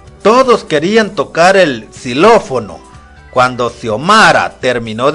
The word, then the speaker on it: xilófono: fue o no xilófono cuál es el primer sonido que oyes el sonido es cuando la x se encuentra al inicio de una palabra se pronuncia como s por ejemplo xiomara pero